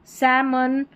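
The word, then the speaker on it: salmon: काम पाम सैमन और यह है बाम यह है आमंड क्या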